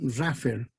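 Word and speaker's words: rougher: Porque para lograr esa buena recuperación, en una primera etapa de flotación que se llama flotación Raffer, se escribe Roger, G-H-E-R.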